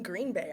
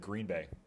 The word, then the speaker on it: Green Bay: He says Green Bay instead of Green Bay. The emphasis on the wrong syllable. Or it doesn't have to be Okay. wrong, just a different syllable.